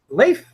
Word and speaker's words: Leif: Leif, I believe that's right pronunciation. The EI sounds like EI in Zeitgeist.